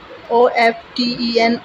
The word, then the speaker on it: often: OFTEN, often, अक्सर. T यहाँ पर साइलेंट है.